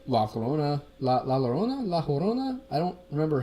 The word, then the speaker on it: La Llorona: creatures that will, like La Llorona? I don't remember how you pronounce a double L in Spanish. I don't remember. La Llorona, yeah, right? Double L is like a Y sound. Llorona?